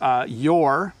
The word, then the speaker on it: your: your and your so I say them exactly the same so you're like your dog is barking right that's the first one and the second one is a contraction of you are so you are cool you're cool so the first one you're and the second one you're I pronounced the same way and I think almost every English speaker does so let's see here